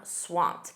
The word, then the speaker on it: swamped: Notice that pronunciation. That ed d is a soft t. I'm swamped.